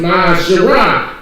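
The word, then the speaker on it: ma'aser: Means tenth in the Hebrew, and it's pronounced Ma'asherah.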